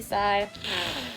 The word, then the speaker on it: PSI: It makes me sigh. PSI if you want to spell it out, but I just say side magnet.